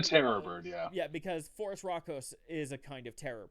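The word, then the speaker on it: Phorusrhacos: South America that is cardivas um you would pronounce this as Forest rockos but you could also just but um since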